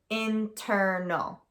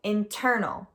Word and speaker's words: internal: So internal, the ter part in the middle is the stressed part.